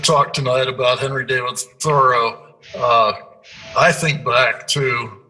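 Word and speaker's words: Thoreau: said that um there the emphasis is on the first syllable he is thorough uh yeah whatever he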